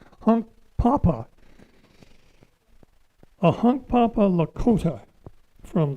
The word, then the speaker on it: Hunkpapa: Is it Hunk Papa? Hunk Papa. Hunk Papa. Get the emphasis on the right syllable. Hunk Papa.